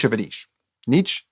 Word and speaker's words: Nietzsche: Nietzsche. Nietzsche is the German philosopher. Niche, I believe, is how you pronounce that.